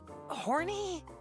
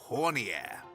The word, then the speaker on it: Hornier: Horny? I see, so this is how it's going to be. Oh, say it right, my pupil. You need to respect the princess's acquaintances. This kind gentleman is Sir Hornier.